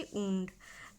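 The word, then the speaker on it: wound: उंड मतलब यानी घाव, उंड, इसे इसकी प्रोनाउंसिएशन होती उंड।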